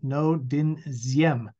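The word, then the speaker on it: Ngô Đình Diệm: turned to this man no din ziem it happens to be pronounced like a z who was Yemen was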